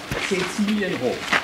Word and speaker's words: Cecilienhof: gentlemen, this is the Palace of Cecilienhof, as we pronounce it. You hear the name Cecily, and as a matter of fact, there were two important persons for whom this palace here was built.